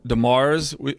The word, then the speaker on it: Demers: I have some out-of-state guests here with me, Toni and Chad Demers. I have found out is how we pronounce it, but it is French, I understand, yeah?